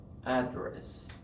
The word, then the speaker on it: address: So if it is a verb or it is a noun, they're different. Email address. Address. Have first syllable stress. If it's a noun, it's like the word at. Plus the word dress, but dress is short.